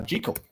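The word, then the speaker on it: Jekyll: out the other day it should be pronounced um uh JL according to the author um but it's become Jal over time anyway the way this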